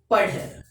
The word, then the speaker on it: पढ़: ബട്ട് if the dot is there, we cannot pronounce in such a way. Dha എന്ന് വായിക്കില്ല. Dha. Padh.